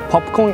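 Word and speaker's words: ポップコーン: By the way, popcorn in Japanese is popcorn. Popcorn. Yes, the word is coming from the English, so that's why we have a pretty similar pronunciation. Speaking of the popcorn, it is really popular in Japan.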